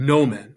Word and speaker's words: nomen: it's the o sound note the short o sounds like the o in obvious it's an uh sound so it's the difference between note and obvious in latin it would be the difference between no men and omnis right they're making two different sounds again now we have